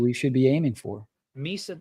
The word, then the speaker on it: Misa: should be aiming for Misa does rhyme with pizza there you go uh